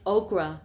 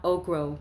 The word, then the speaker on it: okra: As to which he corrected me, it's okra, not okro. You're saying it wrong.